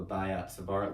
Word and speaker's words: Biot-Savart: What we have to do here is called the Biot-Savart Law, and that is how it's pronounced actually.